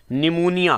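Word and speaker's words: pneumonia: बढ़िया आधे लिखिए को निमोनिया है और निमोनिया का आपको मैं बता दूं यह पीछे पड़ता है P N-you M ओ एन आई ऐ एस पी साइलेंट होता है और एंड से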